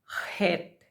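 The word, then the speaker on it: חית: Ito po ang pinakamahirap bigkasin. Het. Parang laging may bara sa lalamunan. Het sounds KH.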